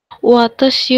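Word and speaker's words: は: হা মানে হচ্ছে পার্টিকেলের মধ্যে হা হ্যাঁ, যখন, এটা কখন হবে পার্টিকেলটা? যদি নাউনের পরে বসে হ্যাঁ হ্যাঁ হ্যাঁ, তাহলে এর উচ্চারণটা হা না হয়ে ওয়া হবে।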